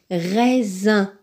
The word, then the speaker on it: raisin: se prononce maison pour raisin raisin raisin dans raisin le s est placé entre deux i avant le si après le SIA l'autre i donc deux voyelles pour ceci il se prononce donc présent rose rose